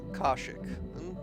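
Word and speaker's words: Kashyyyk: a star map here I prefer basilis pronunciation K Kosik seems to make more sense the wookies of kek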